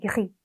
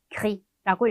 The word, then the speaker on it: gris: gris, gris라고 읽거든요.